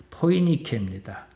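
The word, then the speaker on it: Φοινίκη: 바로 헬라 그대로 하면은 포이니케입니다. 영어식 발음으로 페니케아입니다.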